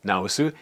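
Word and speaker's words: 直す: This is also pronounced naosu, and it means to fix or correct.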